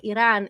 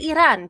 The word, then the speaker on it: Iran: East ahead of US and Israeli strikes on Iran in late February. And yes, I say Iran because that is how you're supposed to pronounce it.